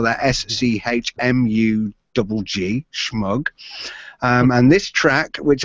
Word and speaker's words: Schmugg: You spell that SCHMUGG, Schmug.